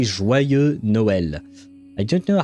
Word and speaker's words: Joyeux Noël: You say Joyeux Noël. I don't know how to write it phonetically to help.